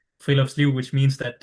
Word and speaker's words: friluftsliv: And the next word that he's helped me pronouncing, so Friluftsliv, something like that. You say it. Yeah, you're getting better at it. It's Friluftsliv.